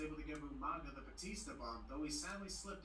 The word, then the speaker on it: Batista: Umaga and Batista. Batista? First William mispronounces Umaga as Umanga. Now Michael Cole mispronounces Batista as Bautista.